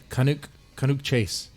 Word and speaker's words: Cannock Chase: should we talk about in the I'm Harville pronouncing this conic kind of chase conic okay that's it what kind of his